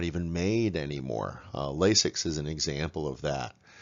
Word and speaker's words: Lasix: I'd is 4 syllables lasix is 2 and so you will